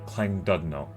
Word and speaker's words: Llandudno: That double L construction at the beginning of a word is kind of a Welsh thing, and is not pronounced just as a single L, but is pronounced KL.